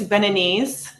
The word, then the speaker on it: Beninese: So English, it's Beninese. Okay. In French, it's Beninois for a man, or general, and then for a female, it's Beninoise. I'll say Beninese. I'll do the English. Beninese.